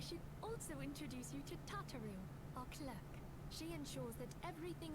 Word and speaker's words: Tataru: also introduce you to tataru o'clock she ensures that everything runs smoothly wait it's tataru oh tataru i've been saying your name wrong for 10 years tataru sorry tataroo please to make your acquaintance